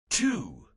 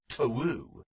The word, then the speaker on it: two: The fact that 2, the number, is spelled with a W, even though we have chosen not to say one TOU.